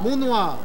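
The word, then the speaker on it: Monnoir: Montnoir. Montnoir. Comme ça qu'on prononce. OK. Comme Montnoir. Comme ton noir.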